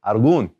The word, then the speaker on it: algún: would drop that Oh put that accent on there and just say algún alright we'll do the